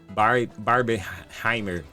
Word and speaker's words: Barbenheimer: E eles não citaram isso, mas também o mercado citou sobre o Barbenheimer, é assim que se pronuncia?